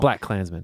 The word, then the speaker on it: BlacKkKlansman: called black clansmen black I'm not exactly sure how to pronounce it this point I probably that yeah it's black K Clansman black Clansman yeah black Clansman there you go um so it's a